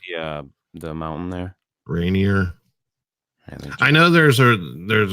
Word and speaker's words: Rainier: one sasquatch something go come yeah was it Renier Rainier right here is that how it's pronounced yeah the mountain there Rainier I know there's a there's a a Renier